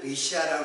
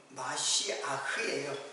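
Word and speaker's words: מָשִׁיחַ: 근데 히브리 말로는 메시아라고 하는데, 우리는 메시아라고 하는데 사실은 마시아흐예요. 저도 이 말을 사용하지 않아가지고, 이 말은 이제 마시아흐, 이게 이제 히브리 발음이에요.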